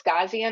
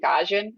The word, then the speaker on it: Gaussian: I like so some people have said it's Gaussian. I pronounce it Gaussian, the Gaussian blur.